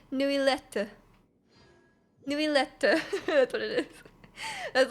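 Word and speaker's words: Neuvillette: I expected so like I just was calling him nubilee you know but it's actually new letter that's what it is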